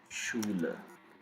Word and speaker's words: Schule: There is second possible way to pronounce ch as sh, as in shut, if ch is just after s. That means the combination of sch. Example: Schule, Schuld, Entschuldigen, Entschuldigung, which means excuse me.